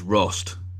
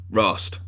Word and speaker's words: Rost: you to the chat it's Rost so I think that's how you pronounce it Rost r o s is